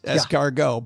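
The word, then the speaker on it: escargot: And why would put it there if you're not supposed to pronounce it? It is. Very good point. However, in this case, it is esargo.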